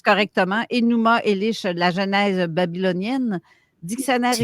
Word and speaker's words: Enuma Elish: Enuma, je ne sais pas si je les prononce correctement, Enuma Elish, la Genèse babylonienne, dictionnaire C'est correct.